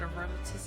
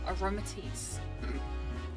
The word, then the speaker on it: Aromatisse: Okay, I've been pronouncing it wrong this whole time. Aromatisse.